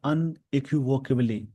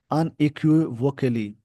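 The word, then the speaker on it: unequivocally: अनइक्विवोकली, यहाँ पे word क्या, अनइक्विवोकेबली, कुली, फिर से मैं बोल देता हूँ इस वर्ड का जो प्रोनाउंसिएशन हो जाएगा, अनइक्विवोकली, जिसका मतलब क्लियरली होता है।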